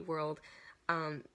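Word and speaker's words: WRLD: part of Monster Cat World, so World spelled without a W, W-R-L-D, World.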